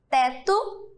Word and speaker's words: teto: Mas vocês estão observando que quando eu pronuncio essas palavras, o som do O não sai? Eu pronuncio e sai o som do U, ó.